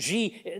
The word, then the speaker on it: Xi: Is President Xi, now, is that how it's pronounced?